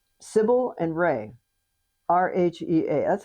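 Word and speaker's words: Rhea: of c sibil and ray. Rh ea. That's how it's pronounced around here. Some people pronounce it ria. But if it's a family name in the world I live in it's pronounced ray.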